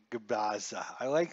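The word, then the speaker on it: Gubicza: I like Mark Gabaza. That's how you guys should pronounce it the way I pronounce it.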